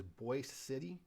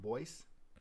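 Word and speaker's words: Boise City: and county seat is Boyce City it looks like Boise but it's pronounced Boyce and it's also home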